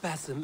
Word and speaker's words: Basim: Do not let Basim and his prophecies of good fortune sway you from our simple goal.